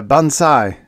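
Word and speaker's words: bonsai: Japanese all right but spelled with an S not a zed a bansai is a dwarf tree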